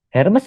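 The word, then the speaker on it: Hermès: Hermes. Hermes, Iya. bacanya Hermes gitu.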